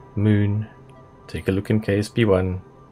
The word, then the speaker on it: Mün: And yes, it is pronounced moon, not man, moon.